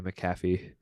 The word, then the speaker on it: McAfee: Rowan goes, "Hey Evan, how do you pronounce Brody's last name?" And I go, "McAfee." She goes, "Okay, well Adrian did it wrong." And I'm like, "How did she pronounce it? It's like Pat McAfee."